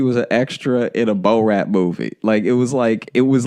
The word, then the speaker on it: Borat: ran like he was an extra in a Bo Rat movie.